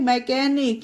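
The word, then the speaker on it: mechanic: festival होता है Christmas okay और यह है मैकेनिक यहां पर देखिए वर्ल्ड के बीच में है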